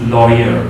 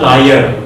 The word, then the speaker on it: lawyer: Okay, so if we make a noun of this is lawyer, okay? Lawyer. So this will be like this, lawyer. R is not pronounced.